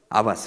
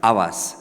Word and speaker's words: Havas: Avas, without the H H. silent. H silent. Avas.